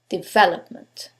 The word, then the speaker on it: development: the first one development is it the second one development the third one development or the last syllable development in this case is the second syllable development now you couldn't know